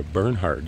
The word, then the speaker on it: Bernhard: Michigan University right across the street from the Bernard Center or the burnhard center proper pronunciation it's built in 1957 I've been in